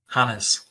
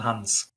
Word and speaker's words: Hannes: Hannes. Hannes. It's not Hans. Oh. There's an E between the N and the S.